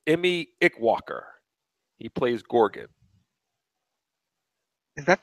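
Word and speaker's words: Eme Ikwuakor: Now, here's one I actually looked up on YouTube how to pronounce his name. It's Emmy Ickwalker.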